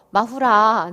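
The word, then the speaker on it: マフラー: 일본식 발음으로 마후라. 네, 마후라. 네, 마후라가 되겠고요. 머플러죠, 원래는.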